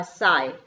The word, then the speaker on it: sigh: Like I shall be telling this with a साई। ये इसका जो राइमिंग स्कीम क्या है, साई। साई करके बोलते हैं इसमें SIGH, GH को आई, सिर्फ एस को और आई को प्रोनाउंसिएशन किया जाता है, GH को नहीं किया जाता है।